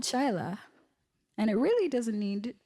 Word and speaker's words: Chaila: Chaila. Sound the words out because it's not Chile, it's not Chaila. Not hard pill to swallow. Chaili. Oh, Chaila. Chia.